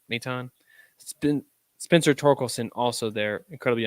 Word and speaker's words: Maton: Right, Maton.